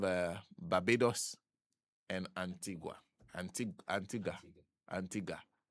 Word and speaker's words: Antigua: Anti Antigga. Antigga, but they spell it G. There's UA but it's called Ga.